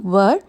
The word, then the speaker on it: were: அதில் ஒரு ஃபார்ம் தான் were. இன்னும் சுருக்கமாக சொல்லணும்னா ஆரோட past tense தான் were. were எப்படி ப்ரொனவுன்ஸ் பண்ணணும்னா her மாதிரி ப்ரொனவுன்ஸ் பண்ணணும்.